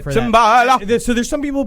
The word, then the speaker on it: Shambhala: Small Earth theory, the idea of like the inner Earth, where there's a whole Shambhala. Shambhala. I think that's the proper pronunciation All right, for that. Shambhala.